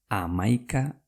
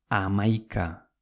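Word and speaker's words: hamaika: 6 gehi bost amaika da.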